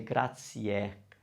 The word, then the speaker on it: grazie: we're going to say grazie grazia so the e must be pronounced and must be heard and it means thank